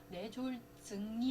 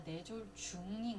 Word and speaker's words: 뇌졸중: 뇌졸증이 아니라 뇌졸중인 거예요. 왜냐면 이게 그 중간인 거예요. 지금 하는 진행 증상이 아니라 진행 중인 거예요. 그래서 뇌졸중이라고 합니다.